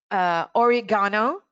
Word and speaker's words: oregano: Oregano is not only the correct pronunciation, but also the correct stress. Be careful, oregano.